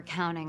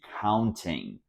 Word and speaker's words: counting: also um notice that she didn't say counting she said Counting this is because the T after an N is often silent this is why we